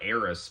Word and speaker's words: Aerith: So I call her Eris because if you pronounce Aerith in Japanese, it comes out as Eris, So that it's the same thing.